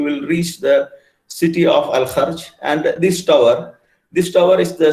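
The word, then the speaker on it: Al-Kharj: You have to pronounce it like Ha, Al Kharj. Al Kharj, if you travel from,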